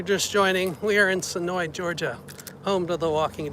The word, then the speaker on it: Senoia: Welcome in to beautiful Senoia, Georgia. It is a busy day here. Nice Saturday down here. We're just south of the Atlanta airport in Senoia. It's spelled Senoia, but it's really pronounced Senoia. No, And this was the